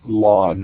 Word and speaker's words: ln: refer to that as most people just pronounce it as the lawn as in go cut your lawn the grass is too